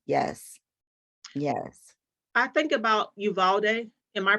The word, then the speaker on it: Uvalde: I think about Uvalde. Am I pronouncing it correctly? I think I am. Yes. Uvalde, the Texas.